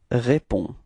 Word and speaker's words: réponds: Je réponds. Alright, so the funny thing is that you've got to write this DS, but of course, as usual in French, you don't pronounce it, okay?